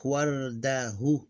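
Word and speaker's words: وردة: It will become totally, it will be pronounced like wardahu, wardah. The vowel ignored, and it will be exactly, if it's like, you pronounce it like this, wardah.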